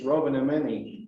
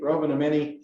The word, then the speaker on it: Rovaniemi: And it's the Rotary Club of, and I can't hardly say it, but it's Rovaniemi, I think is how they say it. But it's the Rovaniemi Santa Claus Club.